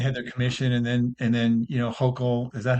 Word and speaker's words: Hochul: had their commission, and then Hochul, is that how you say her name?